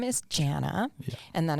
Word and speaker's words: Janna: well uh okay so my first name is Jana and then it's spelled j-a-n-n-a in Romanian and then damijana which